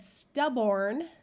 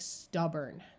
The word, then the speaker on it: stubborn: in the last syllable it becomes muffled and sounds more like er so if you said stubborn that would be the way it looks but since the first syllable is accented this or sound becomes more like er and so really people will say it more like stubborn divide between the two